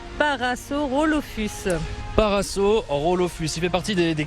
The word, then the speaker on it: Parasaurolophus: Derrière moi, j'ai le premier spécimen de dinosaure à Paralosaurolophus. Je crois que je l'ai pas du tout. Isa, dites-moi comment on prononce. Parasaurolophus.